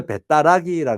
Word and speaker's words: 배따라기: 있도록 그렇게 되어집니다 여기서 배따라기 거는 배 떠나기는 말인데 그 배 떠나기는 말에 말이 다시 어떻게 바뀌어지는 거 하면 배따라기 바뀌어져서 편하게 발음할 수 있도록 돼 배 떠나기 이것보다 배따라기